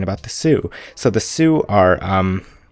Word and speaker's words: Sioux: So the Sioux are it's spelled S-I-O-U-X.